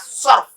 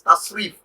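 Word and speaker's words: تصريف: or popularly known as surf. It's one aspect of Arabic language, surf or tasrif. Proper pronunciation, proper word is tasrif.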